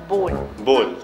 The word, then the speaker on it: bowl: बाउल, B-O-W-L। मिल लो इनसे, आज तक ना सुधरे, अभी तक नहीं सुधर पाए। स्पेलिंग एकदम ठीक है, इनकी स्पेलिंग होती है B-O-W-L, लेकिन इसको प्रोनाउंस करते हैं बोल बोल, B-O-W-L बोल बोल, यूं कुछ चुप्पा है, फिर बोल इज द करेक्ट प्रोनाउंसिएशन, बोल B-O-W-L, W को साइलेंट रखना है और प्रोनाउंस करना है बोल बोल।